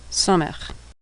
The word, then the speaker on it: Samech: Samech makes an S sound as in Sahara. Samech.